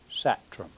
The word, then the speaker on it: Sathrum: name is satram the h is pronounced like in water uh my father's name